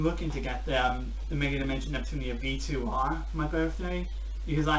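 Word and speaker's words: Megadimension Neptunia: no it's not it's actually phenomen to be pronounced mega dimension Neptunia e - of whites known as maybe the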